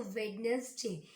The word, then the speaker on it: Wednesday: वेंसडे में D silent होता है तो वेडनेसडे.